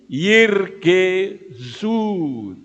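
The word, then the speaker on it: ירגזו: Zain dan waw ada titiknya, ingat bahwa huruf waw yang ada titiknya tidak boleh dibaca wu, tapi u. Ya, paham ya? Jadi yirgezu.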